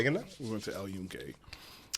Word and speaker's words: El Yunque: We went to El Yunque. Spell Yuncan. Okay. I don't Yeah. know how it's pronounced, but that doesn't sound like. It doesn't, but the Y makes a J noise in Spanish.